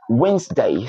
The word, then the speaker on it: Wednesday: n, s, d, a, Wednesday. So that's Wednesday, not Wednesday. Wednesday. The first letter D there is silent, so it's Wednesday.